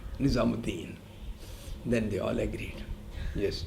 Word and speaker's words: Nizamuddin: You don't put Oo. Nizamuddin, but you pronounce it as Mu, Nizamuddin.